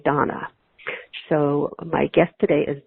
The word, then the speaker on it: Dana: Although her name is spelled as though it would be pronounced Dana, it's actually Donna.